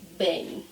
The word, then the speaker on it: bem: When the word ends in EM, that's what you hear, and that's how we say bem.